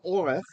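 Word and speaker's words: אֹרֶךְ: Verse 2, amah, a cubit, a forearm length, oh, so the word is orech, actually, and it's spelled here with the comets because this is a closed syllable.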